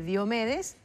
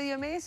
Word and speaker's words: Diómedes: vidrio o de de diomedes, que yo nunca le voy a decir Diómedes con el perdón de de Está muy bien porque en realidad eh la pronunciación griega se acentúa así.